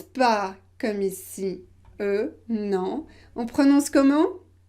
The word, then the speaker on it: eu: conjugué au passé composé est là on ne prononce pas comme ici euh non en prenant ce comment donc prononcer u